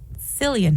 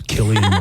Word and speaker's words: Cillian: Also, for 28 years, I've been saying Cillian Murphy. We were all wrong. It took Oppenheimer to get us all to pronounce Cillian Murphy's name correctly.